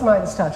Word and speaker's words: Midas Touch: and I forgot to ask him how to pronounce the network. Oh, Midas Touch Network. It is Midas Touch, okay.